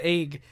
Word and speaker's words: AIGH: Okay, AIGH we can pronounce as Egg.